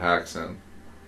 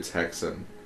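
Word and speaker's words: Häxan: this documentary about witchcraft called haxon or maybe texan maybe but it's spelt h-a-x-a-n like hacks in like they even got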